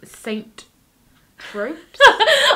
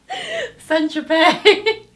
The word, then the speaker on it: Saint-Tropez: So the next song is called Saint Tropes. I should probably say this, you can't pronounce it. Saint Tropez.